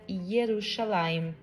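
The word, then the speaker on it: ירושלים: A bandeira de Jerusalém tem no meio o leão de Judá e em cima escrito Jerusalém em hebraico, que se pronuncia Yerushalayim.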